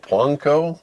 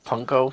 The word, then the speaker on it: Pwnco: It's PWNCO, Plunko. Punko, yeah. Plunko.